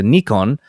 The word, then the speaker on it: Nikon: not to get angry Nikon and Canon are Japanese names and should be pronounced as the Japanese do Nikon is something close to Nikon where the apostrophe indicates a very slight pause and the co is slightly nasalized I think I did